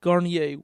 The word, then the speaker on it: Gairdner: I did find a version we could play of the Sex Offender Shuffle by Scott Garnier, and his last name is spelled Gairdner.